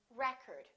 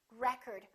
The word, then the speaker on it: record: to record that movie i would like to record my voice if it's a verb we get the second syllable if it's a noun we get the first syllable how about this one